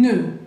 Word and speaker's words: nœud: Papillon, alors un nœud, nœud, acuérdense, D, final, no pronunciamos como la S, como la T, como la P, ok.